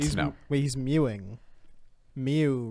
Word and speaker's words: Mew: no wait he's meu Mew rhymes with two rhymes with me and you is this happening Justin